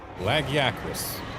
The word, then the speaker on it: Lagiacrus: Incidentally, on the subject of laggy, the way they pronounced its name in-game, Lagiacrus. Well, that pronunciation will sound familiar to you.